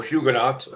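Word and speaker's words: Huguenot: Uh he comes from French hugeno background or hugenot as sometimes pronounced background which is where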